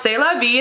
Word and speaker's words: C'est la vie: Pronounced C'est la vie in French, it means this is the life.